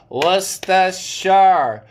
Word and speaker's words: Worcestershire: Worcestershire. You pronounce it as W-U-S-T-U-H. Worcestershire. S-H-R. But you write it WORCESTERSHIRE.